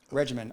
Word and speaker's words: RGMN: Regimen, RGMN.